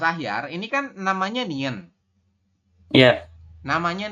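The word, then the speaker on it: 니은: ya Bisa say oke jadi kalau namanya Nien berarti ee di awal maupun di akhir dia bunyinya tetap n jadi di manapun posisinya dia akan berbunyi n contoh saya beri contoh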